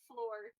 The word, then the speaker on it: Fleur: Um, It's pronounced floor.